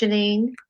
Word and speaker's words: Jeanine: i have with me today somebody really special janine am i pronouncing your name correct janine yes yes she is here today the topic